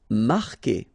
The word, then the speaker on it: marquer: Marquer, okay, Q-U together, it's only the sound K, K, marquer, you don't pronounce the U.